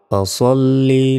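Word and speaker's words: فَصَلِّ: আমরা অনেকে এখানে ভুল উচ্চারণ করে থাকি, বলি যে ফাসাল্লি বলি, ফাসাল্লি নয়, ফা সল্লি, ফা সল্লি।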